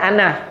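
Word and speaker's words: أنا: Patutnya baca berapa harakat ana? Dua. Dua ke satu? Perkataan ana dalam Al-Quran walaupun tulisannya begini. Ana ada alif kan? Tapi bila baca, alif ini tak dibunyikan. Ha, baik, bacanya satu harakat.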